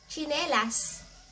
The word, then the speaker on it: tsinelas: And to say flip flops sa Tagalog, tsinelas. Tsinelas. tsi (pronounced as chi) tsi ne las Tsinelas.